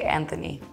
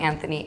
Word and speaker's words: Anthony: that's a good question so technically they're the same name one is I believe they're the same name pronounced slightly different but if you PR present somebody with the th they'll say I'm anony and then just get lazy with it and drop the H but if you really